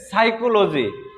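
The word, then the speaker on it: psychology: ঠিক একইভাবে আরেকটি বানান দেখা যাচ্ছে, এখানে আমি লিখলাম যে সাইকোলজি। আসলে সাইকোলজি শব্দটা যখন আমরা উচ্চারণ করি তখন উচ্চারণে আসে সাইকোলজি, কিন্তু লেখার সময় অবশ্যই কি এটা পি দিয়ে লিখতে হয়।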